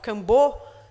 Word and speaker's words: Kambô: use of the frog, Kambo. Kambo is in Portuguese. In Pano, it would be Kampo. I'm using the Portuguese version here.